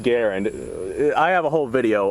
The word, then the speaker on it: Garand: it called grantham and the m1 is pronounced garen i have a whole